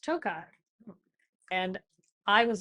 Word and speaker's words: Tokaj: when I told you it was called toai not tokaj did I make fun